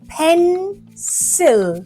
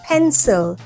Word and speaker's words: pencil: This sound comes in an unstressed syllable in a word. For example, pencil. So it makes the sound pencil or sin.